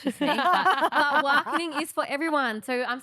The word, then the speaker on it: Waangkiny: Waangkiny, people have been mispronouncing that. It's so funny, but it's like Waangkiny. It's not spelt like that. Waangkiny. Yeah. So like it's not spelt like that, but obviously with the Noongar dialect, we have different ways that we pronounce things. There's a letter there, but you don't say the letter.